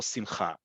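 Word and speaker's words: שמחה: but certainly of accents, but standardized modern Hebrew, for the vast majority of words, the stress is on the last syllable, simcha.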